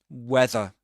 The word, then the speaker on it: weather: Weather. But in American English, in the US, weather. They do pronounce the r at the end, right?